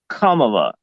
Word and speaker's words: Kamala: That's actually the proper pronunciation, Kamala, and it truly matches at least what she does.